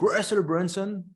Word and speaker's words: Russell Brunson: Donc, Russell Brunson, je prononce à l'américaine, c'est un entrepreneur américain qui est spécialisé dans les tunnels de vente.